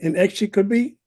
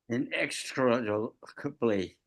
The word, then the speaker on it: inextricably: The strange distortions woven somebody help me, inextricably? What's the correct pronunciation? Inextricably. Inextricably.